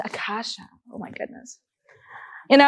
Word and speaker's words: Acacea: so clever wow and how is it pronounced it's Akasha oh my God you